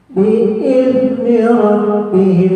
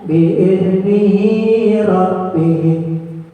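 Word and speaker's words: بإذن ربهم: Kan harusnya bi'idni rabbihim, ya kan? Dibacanya bi'idnihi rabbihim.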